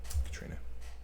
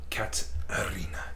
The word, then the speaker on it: Katarina: Sorry, Katrina. That's wrong. Kataterina. How do I pronounce it? She's going to put them on. It's like cat arena. Katarina.